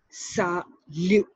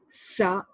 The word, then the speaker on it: salut: So when you have to wish someone hello informally, you will say salut. T is silent. Salut.